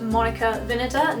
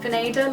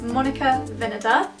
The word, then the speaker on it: Monica Vinader: I discovered the other day that it is pronounced Monica Vinader, not Vinader like I normally say, and that's coming from someone who works in the head office. So if you wondered, it's Monica Vinader.